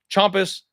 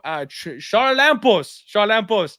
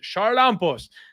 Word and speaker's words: Charalampos: I said it wrong by accident, everybody. I had Uncle Weezy teach me how to pronounce that correctly the last time I broke down his fight and then totally forgot to use it.